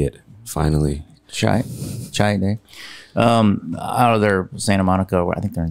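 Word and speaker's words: Chiat Day: Chai Day.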